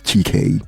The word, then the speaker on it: Chike: And the user responded under with, "I almost thought you were Nigerian, so I was pronouncing it as GK." And he responded with, "You're not wrong. Lol. I just Americanized it.